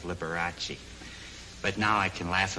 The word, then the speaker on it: Liberace: especially when he kept referring to me all the time as lukara instead of Liberace but now I can